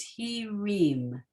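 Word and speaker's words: הרעים: there's no sound under the resh, and the ayin is silent. So it's he reem.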